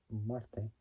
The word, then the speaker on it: Marte: played by Anna Anna Marte play by Anna Mar can't pronounce it well but it's spelled m a r t e it's like saying the word Marty but taking out the Y taking out the Y